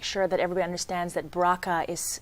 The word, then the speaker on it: BRCA: want to make sure that everyone understands that bracha is spelled BR CA which stands for breast cancer